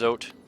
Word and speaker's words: Zote: I'm trying not to swear on the stream, but his name is Zote, and it does rhyme with scrote, which is an excellent descriptor for how I see him.